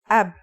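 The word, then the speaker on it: أب: a new word can you read this it's pronounced AB this is the word for father in Arabic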